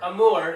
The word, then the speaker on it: Amour: I'm pretty sure you pronounce it Amour.